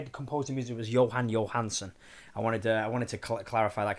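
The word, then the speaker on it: Jóhann Jóhannsson: The guy who composed the music was Johan Johansson. I wanted to clarify that because I said his name wrong before.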